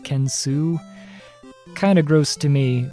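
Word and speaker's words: Kensou: some reason the french way ken soh but pronounced kensu kind of gross to me but technically not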